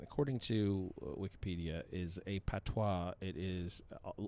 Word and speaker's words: patois: to wikipedia is a patois it is locally known as patois or patwa or pat w-a-h all pronounced the same i don't know why